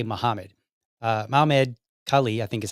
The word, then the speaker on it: Mahmoud Khalil: Mahmoud Khalil, I think is how you say his name.